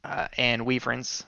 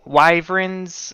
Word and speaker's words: wyverns: Oh, wyverns. I said weaverns forever, so I still say it like that. But I hear wyverns is like how you should say it.